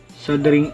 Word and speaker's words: soldering: muna natin ang ating sing iron sabi ni Google silent L sing iron at pag mainit na